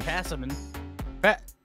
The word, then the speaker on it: Passimian: Oh, I didn't mean to pick Passimician. I'm rocking with him. Passimician? Simeon? How do you say this Miss thing? Passimian.